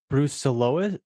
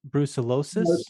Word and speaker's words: brucellosis: that's the right pronunciation but that's how you spell it you got it the disease you were working on was bruce solois brucellosis that's right yeah that's in that that's a